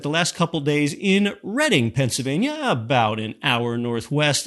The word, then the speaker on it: Reading: board game Monopoly and yes it's not the reading railroad it's pronounced the reading railroad even though it's spelled like reading it's